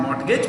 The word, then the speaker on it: mortgage: People had borrowed a lot of money, mortgaging their houses, mortgaging, T is silent, not mortgage, mortgage, girvi rakhi kar.